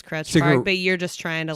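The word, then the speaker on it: Krutch Park: I pronounce it Crutch Park, but I know other people. It is Crutch Park.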